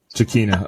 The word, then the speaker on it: Giacchino: Giacchino, okay.